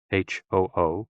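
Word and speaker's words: 呼: HOO, pronounced like hu, which is associated with the spleen.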